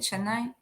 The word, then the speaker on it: Chennai: I have one in Pune and then um Chennai is that how you say it Chennai yeah all the way at the bottom yeah